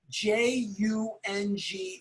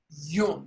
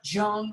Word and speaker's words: Jung: J-U-N-G is pronounced Jung, not Jung or Young, but Jung, Carl Jung.